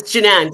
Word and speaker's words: Jinan: It's Jinan. See, I lost my mind just a Jinan? minute. See, don't tell my age. It's Jinan.